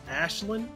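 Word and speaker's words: Aisling: just a PSA that her name is pronounced Ashlin also in my house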